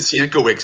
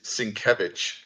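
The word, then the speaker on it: Sienkiewicz: Electra assassin um and I love that you said sieno Wix because that's what we all said when we didn't know how to say his name which is svich okay cool thank you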